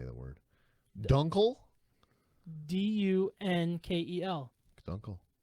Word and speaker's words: Dunkel: Dunkel. Dunkel. It's Dunkel. Yeah, it's Dunkel, man. Dunkel.